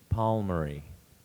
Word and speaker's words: palmary: e divagate that's correct Palmer pver Palmer or palmer but the primary pronunciation is is palmary May I have a